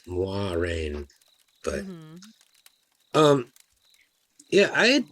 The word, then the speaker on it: Moiraine: Especially with the name Moiraine. I don't like the name Moiraine or Moraine. It's Moiraine.